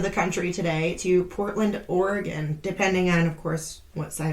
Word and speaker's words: Oregon: We're going to go to the other side of the country today, to Portland, Oregon, depending on, of course, what side of the country you reside.